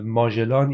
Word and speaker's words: ماژلان: به تنگه بسیار معروف ماژلان، که در حقیقت ما فکر کنم ماژلان این تلفظ فرانسویش هست که ما میگیم، در حقیقت ایشون آقای فردیناند و مگیان، این در حقیقت یک دریانورد پرتغالی بوده که این تنگه